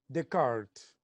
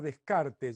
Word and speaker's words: Descartes: fórmula de de karts y si no lo puedes pronunciar en castellano porque no es señal de ser un ignorante pronunciar descartes mucho que ignorante no en castellano cuando uno está obligado a seguir la fonética del idioma original francés de este gran filósofo